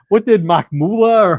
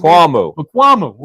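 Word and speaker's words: Israel Mukuamu: And what did Makmula or Israel Makmula, is that how you pronounce it? Mukuamu.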